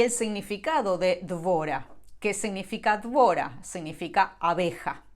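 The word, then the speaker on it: דבורה: En hebreo se pronuncia Dvora. Claro, si yo busco la gematria, es decir, si sumo el valor numérico de cada letra, el nombre Dvora va a sumar 217.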